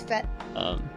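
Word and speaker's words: fête: Is it French? It is French. It is Fete. I think it is. It is. Isn't that the party? Yes, like the party. Yeah, it's Fete. The Fete.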